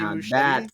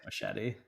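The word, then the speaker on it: Muschietti: Andy Mushetti. That's that Yeah, you added you added a syllable. I think I think it's just machete.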